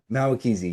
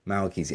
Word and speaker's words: Mahwikizi: How did you Mahwikizi? say Mahwikizi? Yeah. Mahwikizi. Yeah, yeah, yeah. Okay, Mahwikizi. I remember you said like the H is silent, and Yes.